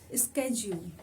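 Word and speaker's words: schedule: हम शेड्यूल कहते हैं, बट अमेरिकन इंग्लिश में शेड्यूल का जो प्रोनाउंसिएशन है वो है स्केड्यूल।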